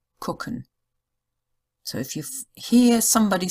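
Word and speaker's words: gucken: the strange thing is it's usually spelled with a G but it is like the k sound so it's cooken nobody says gken it's always cooken so when we have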